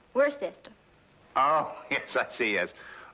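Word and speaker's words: Worcester: But it's spelled W O R C E S T E R. We're sister. Oh, yes. I see. Yes. Lord Worster.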